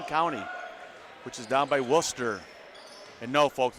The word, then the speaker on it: Worcester: way from Wayne County, which is down by Worcester. And no, folks, it's not Worcester, it's Worcester.